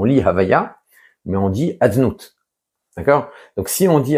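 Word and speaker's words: יהוה: écrit le nom havya mais on ne le prononce pas tel qu'il est écrit on a dit ça personne ne le dit c'est réservé au bamikdash on dit adnout à la place donc on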